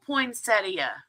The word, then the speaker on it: poinsettia: I always thought it was Poinsetta. I didn't realize it was an IA.